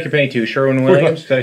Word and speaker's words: Sherwin-Williams: Sherwin Williams. Did I say it right? Yeah. Sherwin Williams.